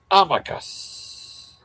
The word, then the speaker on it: Amicus: Amicus.